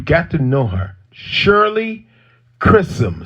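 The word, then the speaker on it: Chisholm: to share with you black history yeah shirley chrism i'm gonna say her name again you got to know her shirley chrism c h i s h o l m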